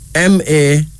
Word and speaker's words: Mawu: Then we have Mawu, Mawu, M-A-W-U, Mawu.